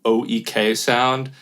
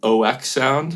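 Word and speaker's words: oeksound: I used to call them OEK Sound. And then I saw a YouTube comment that said it's supposed to be pronounced OK Sound.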